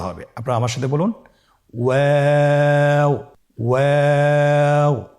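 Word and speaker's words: واو: আপনারা আমার সাথে বলুন ওয়াও ওয়াও। 2 ঠোঁট গোল করে মাঝখানে ফাঁক রেখে হরফটি উচ্চারণ করতে হবে।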